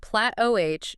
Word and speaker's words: plateau: A plateau, pronounced plat-OH, is fundamentally a period